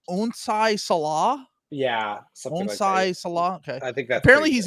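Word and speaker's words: Onsi Saleh: Onai Salah.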